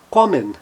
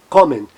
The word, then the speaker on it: kommen: O O, seguido de duas consoantes, e ele estando na sílaba tônica, ele vai ter o som aberto. Olha na palavra kommen, kommen.